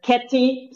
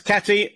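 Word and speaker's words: Käthe: Kathy is the German pronunciation, but I'm totally fine with the English one too. Or it's okay. The Bosnian one, which is then Kati. So. Okay. So it's Kathy.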